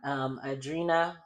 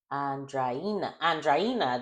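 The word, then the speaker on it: Andreina: So they do their course on Adrina, not Adrina, Adrina. How do you say her name? Andraina, there we go.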